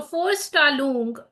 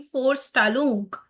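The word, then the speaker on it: Vorstellung: is force Talon so for tal even though there is a v I'm saying for tal because that's Force right that's Volkswagen right so in German every V is actually f pronounced F so for stal means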